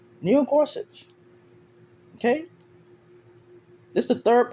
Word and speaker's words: Gorsuch: Neil Gorsuch.